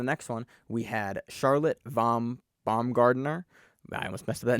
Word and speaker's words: Baumgarten: Von Baumgartner kind of held on. Baumgarten, yeah. What'd I say? Gardner. It's Baumgarten. Baumgart. It's German, man. It's a German man.